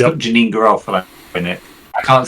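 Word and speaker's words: Janeane Garofalo: got Janine Garofalo in it. I can't say her name. Janine. Janine Garofalo.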